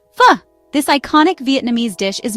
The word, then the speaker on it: pho: Pho!